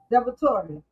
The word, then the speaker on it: DiVittorio: You have the incumbent uh Sam uh Depratori.